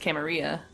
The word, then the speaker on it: Camarillo: yes a bit no we already see Camarillo even though we're from like a place where it would be probably pronounced camerea true true but also